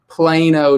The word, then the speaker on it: Plano: So are you originally from, do you pronounce it Plano or Plano? Plano, Texas.